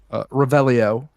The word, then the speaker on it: Revelio: Revelio.